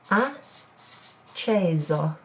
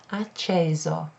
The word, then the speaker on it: acceso: So it's acceso. Acceso. There's a single S there, so that's pronounced Z instead of S.